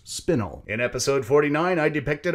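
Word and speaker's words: spinel: correct my pronunciation as the word is actually pronounced spinnel in episode 49 I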